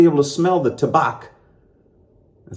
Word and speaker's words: Tabac: And what I'm going to do is I'm going to do back to back to back. Tabac or Tabac. I'm going to say Tabac because it rhymes with back to back to back.